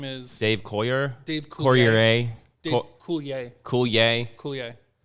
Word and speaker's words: Coulier: It's Coulier. Just let's go. Let's get to this fact. Let's get this over with. But it's French, so it's spelled I-E-R. Yeah.